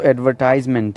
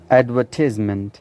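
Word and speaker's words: advertisement: जो American accent वो तो एडवर्टाइजमेंट है, एडवर्टाइजमेंट, लेकिन the British pronunciation is एडवर्टिजमेंट, एडवर्टिजमेंट। तो ये ब्रिटिश एक्सेंट में एडवर्टिजमेंट है, एडवर्टाइजमेंट भी आप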